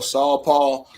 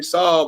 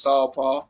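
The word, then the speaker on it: SaulPaul: it you appreciate that so you can be calling me saul but i let everybody do it but it's really just saw paul because it represents this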